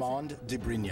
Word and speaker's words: Armand de Brignac: Pronounce it for me, because I can't Armand de Brignac.